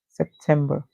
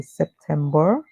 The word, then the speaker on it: September: T and B September September the Americans would say September um where they stretch the ER however the British would say September very abrupt and short so that's where they